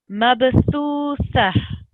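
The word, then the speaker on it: مبثوثة: So these letters here, they're the same, and they're pronounced with the tongue, the tip of your tongue sticking out between your two teeth. So it's a soft letter, sa, and there shouldn't be any sound of sa.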